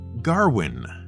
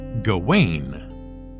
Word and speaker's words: Gawain: about that in fact when we first heard it pronounced on screen we weren't entirely sure who was being addressed to our ears it sounded like Garwin even though for years we thought the proper pronunciation was gain was this just filmmaker